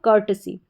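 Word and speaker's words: courtesy: इस तरीके से इसका उच्चारण होगा। कर्टसी।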